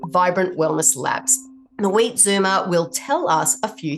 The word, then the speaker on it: Zoomer: word for you because I have an Australian accent and I live here in America and I don't pronounce it the way that Americans would so that's Zed o m e r Zumer so the wheat Zumer